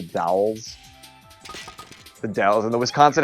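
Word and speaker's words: The Dalles: And the Dowels, but not the Dulles. It sort of looked like it was spelled the same way, like Washington Dulles Airport, but it's the Dowels.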